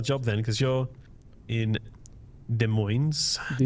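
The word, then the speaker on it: Des Moines: Let's grab ourselves another job then because you're in De Moines. De Moines. Is it shouldn't be pronounced as a French accent.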